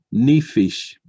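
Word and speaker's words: נפש: o apetito por la palabra en hebreo se pronuncia ni fish la palabra en ni fish en hebreo encontramos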